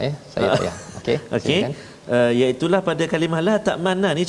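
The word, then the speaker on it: لَا تَأْمَنَّا: Iaitulah pada kalimah la ta'manna ni, cara baca dia ialah kita kena muncungkan mulut kita seolah-olah kita membariskan dhammah mim tu, sebab dia asalnya la ta'manuna dia hasafkan satu nun, jadi dia jadikan sabdu la ta'manna, tapi dia ada ismam tu la ta'manna.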